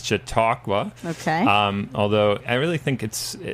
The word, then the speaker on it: Chautauqua: It's a real tongue twister in terms of pronouncing, and trying to spell it has provided some challenges for me and my peers. But I think it's Chautauqua.